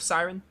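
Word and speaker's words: Seiren: i think it was siren right it's pronounced like a siren the the deadly song mermaids siren isle of siren i'll try to remember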